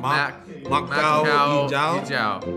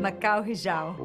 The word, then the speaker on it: Mak Kau hijau: You're not gonna give us a little pronunciation? Mak Kau hijau. Mak Kau hijau.